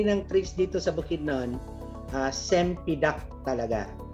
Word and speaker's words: cempedak: Pero yung majority ng trees dito sa Bukidnon, sempidak talaga. Sa Malaysia, ang pronunciation na nito is parang champaka. Yan yung champaka.